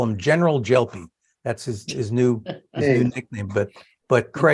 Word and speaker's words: Gelpi: And he says no, it's a soft G, like in general. So I'll call him General Gelpi.